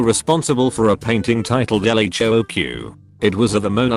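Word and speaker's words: L.H.O.O.Q.: The letters in the title, when pronounced in French, sound very like she has a hot ass.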